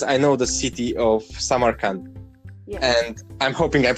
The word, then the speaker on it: Samarkand: And I'm thinking, because I know the city of Samarkand, and I'm hoping I'm pronouncing it right.